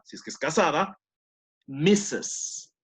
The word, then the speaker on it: Mrs.: Señora, si es que es casada, Mrs. No pronuncien la R, por si acaso, pero se escribe con R, ¿ok? Mrs.